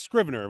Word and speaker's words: Scrivener: It is Scrivener with a hard C.